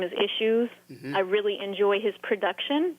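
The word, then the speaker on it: Ishues: to look him up his name is uh issues it's spelled i-s-h-u-e-s and he's he's coming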